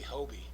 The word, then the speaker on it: Hobie: I know okay that makes sense it's actually Hobie Hobie okay yeah that's the manufacturer's name yeah